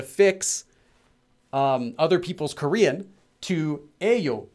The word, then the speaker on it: 예요: But I would actually recommend, if you know this rule, it's supposed to be written as 예요, but pronounced as 에요, and you're talking casually with acquaintance, just write it as 에요.